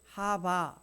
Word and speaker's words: 하와: 됨이라 아담이 아내의 이름을 하와 발음으로는 하바 이렇게 발음합니다 하바라고 이름을 지어줬는데 그